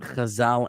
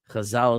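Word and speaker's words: Chazal: all back to Torah Khazal and Science Kazal is spelled C H A Z A L.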